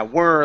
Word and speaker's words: were: maybe so well and people get the word were and where U mixed up as well as War okay were where War okay they're all kind of tricky okay W well yeah were like her okay um this word